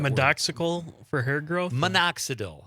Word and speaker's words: minoxidil: But he also says medoxical. How do you spell that, Con? For hair growth. What is that word? Medoxical for hair growth? Minoxidil.